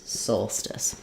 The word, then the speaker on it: solstice: it as Soul because we have the word goal where O A says the o sound and then just a light SCE Soul Stice um so so I